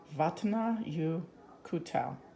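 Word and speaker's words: Vatnajökull: you could tell what not you could tell but nah you could tell that is language the people in Iceland speak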